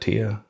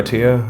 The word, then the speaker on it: Attia: Peter, how do you say that, Attia? Peter Attia, I think it is, Attia.